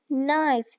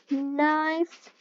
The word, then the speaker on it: knife: k n k n knife the K is silent light here I can